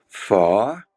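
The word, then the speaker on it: phở: she is making up something called far that's the way you have to pronounce it in vietnamese and it's a dish you probably have seen p-h-o that's the way it's spelled but it's it's she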